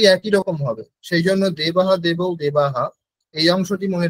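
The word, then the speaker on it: দেবাঃ: বিসর্গের উচ্চারণের নিয়ম হচ্ছে যেই স্বরবর্ণের পরে বিসর্গ হবে, মঞ্জু মিউট করুন, যেই স্বরবর্ণের পরে বিসর্গ হবে বিসর্গের উচ্চারণ সেই স্বরবর্ণের মতোই হবে। যেরকম দেবাহা, এখানে অকারের পরে হয়েছে, তাই না?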